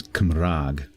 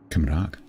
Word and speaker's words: Cymraeg: The Welsh in Welsh is Cymraeg. The Welsh for Wales being Cymru. Cymraeg. Looks like Kimbru, but it's not pronounced like that.